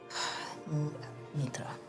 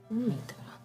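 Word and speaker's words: Mithra: My name is Mitra. Not that you would have any scribes, but I will spell it out. M-I-T-H-R-A. Mitra.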